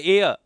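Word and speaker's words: heir: H silent है। इसको क्या बोला जाता है? देखो यह जो वर्ड है ना इसको हेयर नहीं बोला जाता है। हेय गलत हो जाएगा। इसको बोला जाता है एय।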